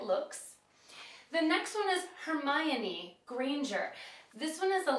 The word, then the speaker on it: Hermione: This one is a little bit tricky because you actually do pronounce the O. I always thought it was Hermione, but it's actually Hermione. So when you're talking about her name, that's how you pronounce it.